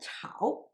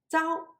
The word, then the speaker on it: 朝: Zhao also has two pronunciations as Zhao and Chao. Zhao means morning and Chao means dynasty, as in the phrase of Tang Chao or Tang Dynasty. Here it refers to morning, so it should be pronounced as Zhao.